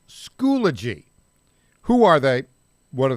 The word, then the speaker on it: Schoology: Tell us about this company called, I think it's pronounced Schoology.